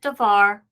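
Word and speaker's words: דבר: we have the word Devar so notice here on the word Devar originally the accented syllable was the VAR the second syllable so that is the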